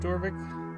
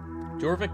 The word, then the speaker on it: Jorvik: off we're on to not dorvik that side jorvic Castle our new Mission dwarvik